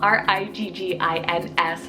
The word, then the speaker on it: Riggins: on the boy side we have Riggins so r-i-g-g-i-n-s Riggins this one is so adorable you can